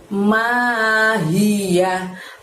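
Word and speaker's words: مَاهِيَهْ: Lalu setelah itu ada lafadz mahiyah, ma panjangnya 2, hi-nya dari tenggorokan bagian bawah, yahnya pendek berakhiran hak, mahiyah.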